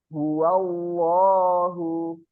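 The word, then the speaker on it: هو الله: Bismillahirrahmanirrahim qulhuwallahu ahadahu Ahad lafaz Allah di situ dibacanya tebal lafaz allahah itu dibacanya tebal sebelumnya fathah jadi cara membacanya huallahu huallahu yang sering terjadi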